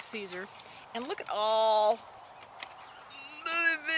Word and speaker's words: Caesar: but um i mean julius kaiser that's how you say it in latin but julius caesar and look at all